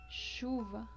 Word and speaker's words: chuva: Ven que el sonido es un sonido leve, como el sonido de she en inglés, también se pronuncia aquí chuva. No es chuva como podríamos decirlo en el español, chocolate, sino es un sonido suave de chuva, como si estuviéramos haciendo